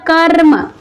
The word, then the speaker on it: कर्म: इसलिए जो इसका उच्चारण करते हैं हम, तो उच्चारण होता है कर्म। क्या होता है उच्चारण, कर्म, ना कि कम्र होता है, कम्र कम्र तो नहीं होता, इसका उच्चारण क्या होता है, कर्म।